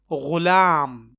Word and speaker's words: غلام: غالب نہ کہ غالب۔ اسی طرح غین سے غلام، لیکن اکثر لوگ اسے غلام پڑھنے اور بولنے کے بجائے وہ اسے گ یا گاف سے غلام پڑھتے اور بولتے ہیں، جو کہ غلط ہے۔ تو یہ غین سے غلام ہے، غلام غلام نہ کہ غلام۔ اسی طرح غین سے